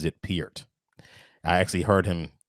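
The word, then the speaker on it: Peart: 70s and 80s oh is that how you pronounce his name i was saying pert is it piert it's peered actually yeah how do you spell that p-e-a-r-t he actually pronounces it piert i actually heard him say it on a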